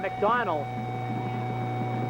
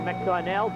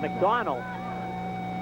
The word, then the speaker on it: McDonald: And Bob McDonald, as we are told that is the pronunciation. Earlier we were told McDonnell down in the field, now we're told McDonald.